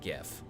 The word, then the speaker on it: gif: __ ] about is when they pronounce it jiff instead of gif oh no like that